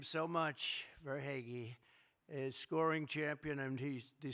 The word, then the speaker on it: Verhaeghe: a man named Carter Verhaeghe. Carter Verhaeghe. Where's Carter? I could only pronounce that name because I heard it so many times during the service. I said hair is right.